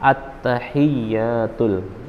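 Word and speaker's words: التحيات: tidak membaca tulisannya maka Kebanyakan orang membaca attahiyatul attahiyatul bukan attahiyatul padahal yang benar attahiyatul ianya pakai tasydid nah Jati sudah membacanya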